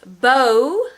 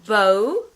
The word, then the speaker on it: bo: And so it's bow, like in a hair bow, bow.